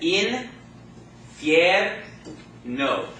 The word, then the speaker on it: infierno: The reason why it's 3 is because 2 of the vowels go together to form a diphthong. Okay? So we have the in, fier, no. That's your 3 syllables, okay? Now, which syllable is the accent going to fall on in words ending in a vowel? Second to last, which is which combination of letters? The diphthong, right?